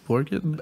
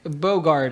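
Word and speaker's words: Bogarde: It is Dick Borgant. Borgin? Oh, can somebody Bogard. Get it? Bogard. I'm so sorry. Dirk, yeah, it would be Bogard. And Charlotte Rampling. Where's my assistant? Yeah, I know. Dirk Bogard is Max, and Charlotte Rampling is Lucia.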